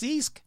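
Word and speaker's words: ceasg: called a Sisk c-e-a-s-g that cannot be how it's pronounced so let's find out how you pronounce sieg I guarantee it's gonna have so many freaking letters yeah no seriously I want to find out go ahead yeah same seized oh it really is just Sisk Sisk ah I did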